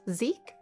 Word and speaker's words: Zachary: His name is spelled Zachary, but pronounced Zeke?